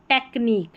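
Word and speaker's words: technique: Critic यूनिक एंटीक और यह है टेक्निक। टेक्निक। सी एच को यहां पर क करके प्रोनाउंस कर रहे हैं टेक्निक में।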